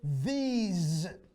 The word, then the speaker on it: these: this if it's singular these z we use a z sound not an s sound like this these that